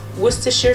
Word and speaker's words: Worcestershire: I'm going to add Worcestershire sauce. Yes, I know how to pronounce it correctly.